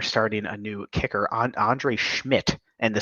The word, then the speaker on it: Szmyt: Although I did see that they're starting a new kicker, Andre Schmidt. And the Schmidt is spelled that's interesting.